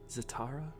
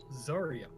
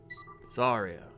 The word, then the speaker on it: Zarya: Zatara? Assuming it is spelled correctly, and I'm assuming that it is, it's Zarya. Zarya.